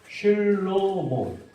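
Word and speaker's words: שלמה: 솔로몬은 스펠링이 똑같아요. 슐로모.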